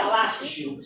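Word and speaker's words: Lazio: quem nascia no latteo italiano se pronuncia latiu quem nasce era lá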